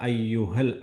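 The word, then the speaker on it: أَيُّهَا: യാ അയ്യുഹൽ, അയ്യു ആ എന്ന് പറയരുത്, അയ്യുഹ. അയ്യുഹ എന്ന് തന്നെ പറയണം. തൊണ്ടയിൽ നിന്നാണ് ഹ പറയണത്.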